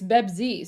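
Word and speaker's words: بيبسي: This is how Pepsi is pronounced in Arabic. It's Bebzi. So yeah, Bebzi's for Palestine. Well, like Bebzi. Just replace the P with the B, right?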